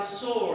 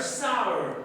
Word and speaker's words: sour: For example, in school at colleges, you have listened that grapes are sore. It's not sore. The word sour. Grapes are sour.